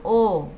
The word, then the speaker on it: eau: Fíjate, la EAU es O.